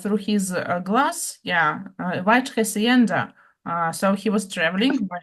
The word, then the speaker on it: hacienda: What is the pronunciation, sister? I think Claudia knows. Hacienda.